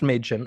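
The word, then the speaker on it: Mädchen: Um the movie stars Maiden Amic, which is pronounced Maiden, at least according to the uh uh USA Network ad spot that we found for this.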